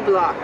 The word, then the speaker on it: Bloch: Yes, actually we pronounce it in France. It's Block.